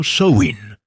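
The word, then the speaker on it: Samhain: 31 de octubre una festividad llamada Samin, pronunciado Soin, que marcaba el final de la cosecha y el inicio del invierno.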